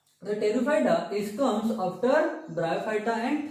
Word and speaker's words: Pteridophyta: Here in Pteridophyta, P is silent. P is silent, we called it Pteridophyta.